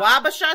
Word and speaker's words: Wabasha: sure i was saying it right wabasha babasha wabasha street caves this is called see i had